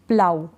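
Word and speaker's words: plough: जाएगा आगे क्या है जैसे कि यह है प्लाऊ ओयू के बाद जी ए है तो हम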